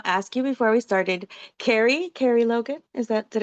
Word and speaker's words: Kerie: Kerrie, Kerrie Logan, is that Did I say it correctly?